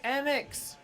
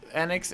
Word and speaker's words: Enix: How do you say Enix?